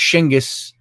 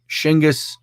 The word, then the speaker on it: Genghis: he was buried uh genghis which is pronounced shingis over there shingus khan he uh uh left